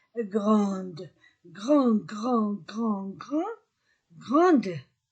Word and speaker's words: grande: Il est grand. Et pour le féminin, j'ajoute e. Elle est grande. Je, tu, il. Je ne prononce pas des. Et pour elle, je prononce des.